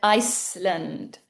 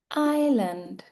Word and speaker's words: island: I said bowl whole W is silent silent And the last one was island I said Iceland Iceland or sometimes people say Iceland but it's island So now I'm going to read this again correctly.